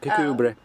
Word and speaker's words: Kirkcudbright: Kirkcudbright.